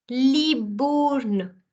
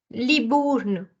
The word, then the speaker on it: Libourne: First syllable is Li. Second syllable is bour. And third is n. Libourne. Libourne.